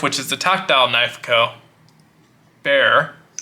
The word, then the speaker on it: Bexar: is the tactile knifeco bear pronounced bear but spell v-e-x-a-r was serialized so i